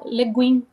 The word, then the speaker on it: Le Guin: A primeira delas é um livro chamado Floresta é o Nome do Mundo, de Úrsula Legan, como você sabe a pronúncia, não? É, acho que eles falam Úrsula Leguin.